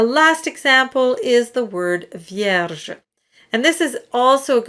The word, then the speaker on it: vierge: The V is the most important, but the R is right next to the next syllable that starts with a j sound. So you have vierge. So the flip of the R is very light because you don't want to get in the way of your next syllable.